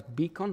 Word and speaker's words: BCAN: mission that be bcan we we pronounce it as beon right Stephanie beon of Hope